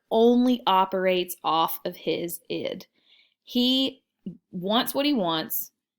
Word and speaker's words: id: ego and your super ego this is not id is pronounced id your id your ego and your